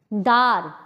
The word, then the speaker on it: দ্বার: শব্দের আদিতে যদি বফলা থাকে তাহলে সেই বফলার উচ্চারণ হয় না। যেমন স্বচ্ছ, শয় বফলা চয় ছয়। ধস্ত, ধয় বফলা দন্ত শয় তয়। দ্বার, দয় বফলা আকার র।